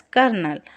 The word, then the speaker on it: colonel: See, Colonel. Nel. It should be pronounced as Colonel.